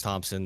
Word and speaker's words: Thompson: it's spelled but uh last names Thompson the H is silent so it's kind of